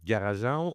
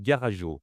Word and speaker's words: Garajau: Et pourquoi on prononce ça Garajau au lieu de Garago ? vu que ça se termine par AU, est-ce que tu pourrais nous expliquer ?